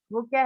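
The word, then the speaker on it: walk: Next है वॉक, वॉक में एल जो लेटर है वो भी साइलेंट है।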